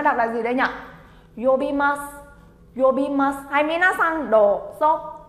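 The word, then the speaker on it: 呼びます: Yobimasu chính là gọi mọi người nhá. Gọi. Đấy. Từ này chúng ta đọc là gì đây nhỉ? Yobimasu.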